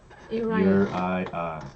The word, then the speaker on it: Uriah: Uriah. That's how you pronounce his name.